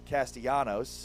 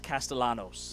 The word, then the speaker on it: Castellanos: Normally, it'd be Castellanos, but I think it is Castellanos. Yeah. Normally you don't pronounce the L. In this case though, he he invites you to pronounce the L as effort.